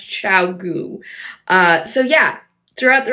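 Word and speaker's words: ChiaoGoo: brand of needles for a long time as chiu but I guess it's actually pronounced chiau uh so yeah throughout the rest of this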